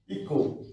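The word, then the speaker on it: echo: এইচ তাহলে সি এর পরে আসছে এইচ এর উচ্চারণটা এখানে নেই হ্যাঁ chemistry stomach stomach C এইচ এইচটা হচ্ছে না ইকো ই সি এইচ ও ই সি এইচ ও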